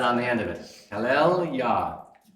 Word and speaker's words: Hallelujah: Hallel Yah. Praise. So this is praise, Hallel, and Yah. This is how we spell it, is J-A-H, but it would be Y-A-H.